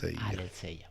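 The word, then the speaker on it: ἀλήθεια: En griego se escribe así de raro, pero se dice así, ¿vale? Aletheia, ¿vale?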